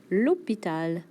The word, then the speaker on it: l'hôpital: Et mon favori à prononcer: l'hôpital. L'hô...pi...tal.